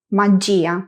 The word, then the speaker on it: magia: Como la sílaba fuerte cae en la i del grupo ya, no pronunciamos ya en un único sonido, sino ji a magia.